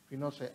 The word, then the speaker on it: Pinochet: General Augusto Pinochet pronounced Pinochet an army general led the coup.